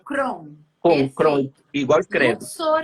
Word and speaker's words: Kron: Não, o sobrenome do pseudônimo é Kron, Kron Crown mesmo. mesmo. Pronuncia Crown.